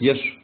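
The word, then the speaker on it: יש: к е что получается получается е и в конце ш читается как еш ешь это есть ешь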